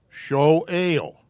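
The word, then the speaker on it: שואל: This is an A sound. Show ale.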